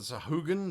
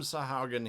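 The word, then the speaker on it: Sahuagin: we introduced aquatic races, the Sahaugen, the Sahugan, the Sahagin, the however you want to pronounce them. We call them Sahaugen here. That's how we pronounce them.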